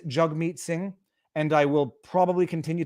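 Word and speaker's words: Jagmeet Singh: the way i i i realize now i've been pronouncing his name wrong it is jug meat singh and i will probably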